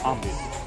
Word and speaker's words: आमेर: This area is called आमेर। नाम इसको आमेर also A एम पी आर B silent P यू टी C, which means आमेर एंड आमेर same B silent.